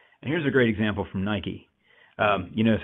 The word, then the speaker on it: Nike: a great example from Nike you notice I use the American pronunciation of Nike there because that's you know how it's pronounced the but anyway sorry